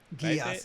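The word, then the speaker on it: Geass: Geese? Gias, Gias.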